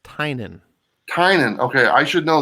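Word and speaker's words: Tynion: um and that's the guy james last name tinian or i just discovered it's pronounced tynan tynan okay i should know that because he's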